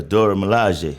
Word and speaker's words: Dora Milaje: Correct me if I'm wrong with the pronunciation. Was it Dora Milaje? Yeah, the Dora Milaje.